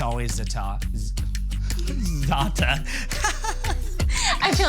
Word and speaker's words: za'atar: And it's always za'atar. Za'atar. I feel like it's like a hi-ya when you say it. It's like za'atar. Yeah, she always says the R is silent.